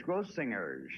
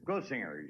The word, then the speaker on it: Grossinger's: grossingers yeah isn't it it's gross singers with a hard G crossingers grossingers yeah uh funny Jimmy